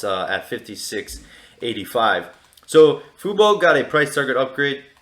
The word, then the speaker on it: fubo: i really like is fubo or as i like to call it fubu um that's just me mispronouncing the stock uh so fubo we